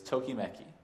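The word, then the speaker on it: ときめき: Japanese about a belief the Japanese pronunciation is tokimeki does it spark joy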